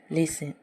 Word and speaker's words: listen: उसी तरह दूसरा एग्जाम्पल है LISTEN, लिसन। इसमें भी जो है STEN आया हुआ है, जिसकी वजह से टी साइलेंट है और इसे हम लोग लिसन पढ़ते हैं।